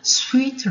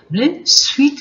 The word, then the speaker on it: suite: 네, 그 다음에 발음 조심하셔야 됩니다. suite room, 우리가 특급실을 suite room입니다. shoot room이 아닙니다. suite room.